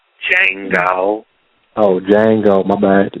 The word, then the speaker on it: Django: No, the D is silent. Django.